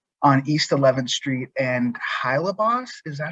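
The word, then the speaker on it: Hylebos: We do have another posting happening next week on Tuesday on East 11th Street and Hylabos. Is that how you say it? Hylabos, thank you.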